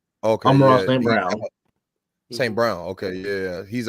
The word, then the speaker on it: St. Brown: My bad if I'm mispronouncing. Correct. You said it right. Okay, I'm Ross yeah. St. Brown.